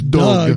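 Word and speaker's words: Dug: How do you pronounce that? We've never heard this It's Doug that you speak Doug.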